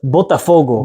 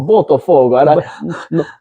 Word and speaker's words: Botafogo: Sava on his way to Brazil, and I'm going to butcher the name. It's Botafogo. Botafogo. Botafogo.